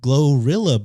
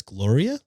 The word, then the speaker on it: GloRilla: her video today and think that the name might be pronounced as Gloria her real name is Gloria so that's her stage name yes but it's definitely pronounced glorilla right song glorilla okay